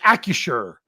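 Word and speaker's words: Acrisure: He's like, if you say it right, it's Accusure. Accusure.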